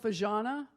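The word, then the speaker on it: Fažana: little map here called fajana i do know that that's how you pronounce the z because i was there for a month and they taught me fajana was absolutely stunning so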